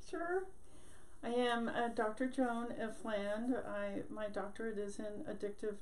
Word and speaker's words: Ifland: I'm here with Joan Ifland. I didn't check to make sure I'm saying it right. It is Ifland.